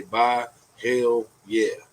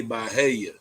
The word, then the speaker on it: Byhalia: like it you know some people can't pronounce it you just have to say bye hell yeah oh hell yeah yeah